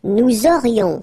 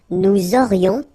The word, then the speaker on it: aurions: Then, nous aurions, so this little link between the two, this liaison, nous aurions, final S, not pronounced.